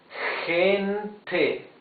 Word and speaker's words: gente: Like in gente, you see it's a different sound of G. It's gente.